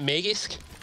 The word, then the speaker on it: Magisk: What's the official pronunciation of the two names? Isn't it Magisk? Yeah, close enough. And Magix. Okay. And the double X, you know, it's like X, you know, Magix.